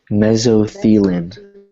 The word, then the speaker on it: mesothelin: Mesothelin is how to pronounce it. So let's all practice that together. Mesothelin.